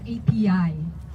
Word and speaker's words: api: mother tongue in tagalog we have a word that's spelled api pronounced ap and in english it